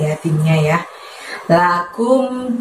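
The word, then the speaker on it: لَكُمْ: Kumnya di situ dari pangkal lidah kamu, tapi nggak usah diangkat hingga menyentuh langit-langit ya. Lebih lembut, lakum, lakum. Jadi mulutnya majuin aja karena ada harokat domah di situ.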